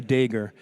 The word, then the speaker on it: Dagher: my name is uh there's no wrong way to pronounce it I say dger it's actually it's a Lebanese name and uh in Lebanon uh dger is as common as Smith or Jones and um uh but